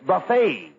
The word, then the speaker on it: buffet: Not buffet supper. It's buffet. The tea is silent.